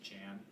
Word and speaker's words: Jan: Paskowski yeah his name was actually uh it's pronounced Jan J an which is John in Polish so